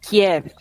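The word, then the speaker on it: Kyiv: Estadão temos como padrão chamar de Kiev a capital que é a pronúncia russa em ucraniano é que E aí eu tenho que ficar me policiando para não falar keve quando eu tô aqui porque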